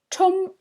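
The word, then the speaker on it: ཁྲོམ: The first one, try to read it, or spell it, or both. Chom.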